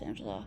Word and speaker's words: Angelou: Angela, it's pronounced Angela, but I'm not used to saying it the right way.